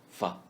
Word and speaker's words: 法: Fa is the second syllable of alpha, read in the third tone. Fa.